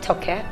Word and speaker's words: Toke: I am still joined by the fabulous, the inspiring Toke Makinwa. Did I say it correctly? Toke.